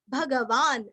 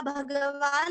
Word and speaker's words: भगवान: अभी आगे बढ़ेंगे 73 भगवान भगहा नंदी वनमाली हलायुधः, आदित्यो ज्योतिरादित्य सहिष्णुर्गति सत्तमः, भगवान आधा न पूरा भगवान नहीं बोलना है, भगवान भगहा नंदी दी